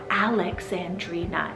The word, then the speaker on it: Alexandrina: name alexandrina spelt a-l-e-x-a-m-d-r-i-n-a alexandrina if you need five syllables like this is a